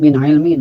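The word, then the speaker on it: مِنْ عِلْمٍ: Nah, jangan dilamakan bacanya. Tidak min ilmin atau min ilmin. Apalagi sampai dipantulkan. Min ilmin. Nah, jadi bunyi n-nya itu dibaca jelas ya, dan tidak dilamakan. Min ilmin.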